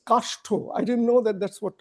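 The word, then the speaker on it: Kastha: other group, which is an European group, Shilpa Kashto, that's how I'm supposed to pronounce her name. I don't suddenly see her, but she is here. She's there, yeah, there she is. So this is Well, it's Kashto.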